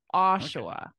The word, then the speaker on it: Oshawa: I thought for syllable stress you might put it on the end or something but and say like Oshawa or Oshawa or like something like that but you got it Oshawa Oshawa not too bad right it's quite an